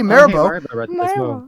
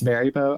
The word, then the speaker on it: Maribo: it's so much Hey, Marbo. Cool. Let's go. Sorry. It's Oh, wait. Wait. It's Maribo. I've been pronouncing your name wrong. What am I doing? Maribbo. It's like the gummy bear coming.